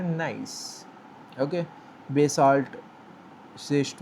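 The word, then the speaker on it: gneiss: जिसकी स्पेलिंग है जी एन ई I double S लेकिन हम प्रोनाउंस करते हैं नाइस।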